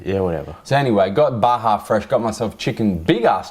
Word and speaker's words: Baja Fresh: called I called it bajar fres it's yeah yeah yeah cuz in Mexican no it's not a silent J J is pronounced as a h man yeah whatever so anyway got Baja Fresh got myself chicken big